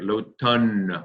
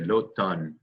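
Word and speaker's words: l'automne: fall very good fall so fall in french is look done everybody say it look done it's a tough one to pronounce sometimes but think of the uh think of the expression a ton of bricks right lo tan we want to say lo don can everybody say that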